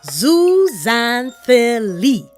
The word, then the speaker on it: Zooxanthellae: First up, I hope you're ready for this big word that's really not so hard to pronounce when you give it a try. Zooxanthellae.